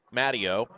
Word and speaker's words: Matteo: And I believe the correct pronunciation is Matteo.